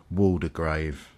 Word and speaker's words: Waldegrave: of William the Conqueror being Norman the name is probably more correctly pronounced Waldegrave in or shortly after